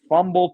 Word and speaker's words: Phumble: It's called Fumble Podcast, and it's spelled Phumble.